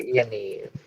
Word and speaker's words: Yaniv: Spell it for me. Jessica Yaniv.